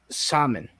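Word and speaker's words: Samhain: holiday is spelled out Sam Hein and is pronounced uh salmon okay it's a Wiccan holiday and I just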